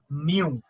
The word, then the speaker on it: mu: Mu. Start with. It's, you can pronounce like this way, mu.